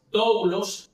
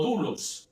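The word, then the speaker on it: δοῦλος: término que se utiliza es doulos o dulos, depende de cómo lo pronuncie.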